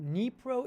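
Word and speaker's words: Dnipro: airport airport is that nepro airport neapro is uh in uh you can see it's pronounced pronounced nepro ukraine unconfirmed report that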